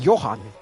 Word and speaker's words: Johan: so you pronounce it yeah so it's like you're pronouncing it Johan okay so please old